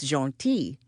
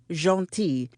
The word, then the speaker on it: Gentille: That would not be so bad, but our last name is Gentille. Soft G, silent L, and the I is also pronounced like an E. Jolie Gentille translates to pretty nice in English.